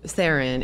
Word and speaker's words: Theron: I mean, look, the bottom line is the real pronunciation of my name is so far off from both of those. What is it? It's Theron. Oh. Yeah. The South African pronunciation.